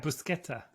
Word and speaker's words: Buscetta: You were saying it right, Buscetta.